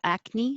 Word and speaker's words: acne: to chocolate and the same thing as acne i hold my tongue in the k position but i don't release it like chocolate i say